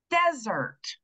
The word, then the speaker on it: desert: that very first syllable what that's telling me is that first syllable is getting the stress okay so we're going to hear a nice clear valow sound in that fir first syllable all right so I